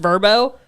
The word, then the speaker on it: VRBO: So Verbo. Verbo. Do you know it's pronounced Verbo?